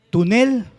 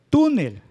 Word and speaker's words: túnel: tú y la segunda si pronunciamos fuerte la última sílaba como diría túnel verdad pero es túnel la sílaba tónica o la sílaba fuerte es la grave la clasificación lo vamos